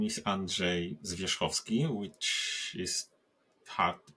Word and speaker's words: Andrzej Zwierzchowski: people on this planet so my name is Andre zovi which is hard to pronounce to many people and it's always a